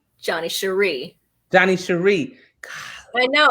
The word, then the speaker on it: Sherri: it and pronounce it it's johnny cheri and everybody says sherry johnny sherry but it's cherie i remember you saying